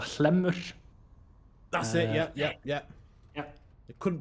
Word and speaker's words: Hlemmur: It's called Hlemmur. That's it. Yeah. I couldn't pronounce it.